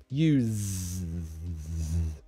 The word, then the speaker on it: use: mean no to you to use as a verb use that's the voiced z like a zed use and then use u s e as a noun that's different use use same almost same pronunciation but the difference is the voiced use an unvoiced use that's the only difference okay okay so we